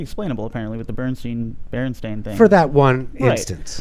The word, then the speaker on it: Berenstain: the book correct and people would mispronounce it bernstein bears but then later in life they finally said look our name is berenstain but was the damage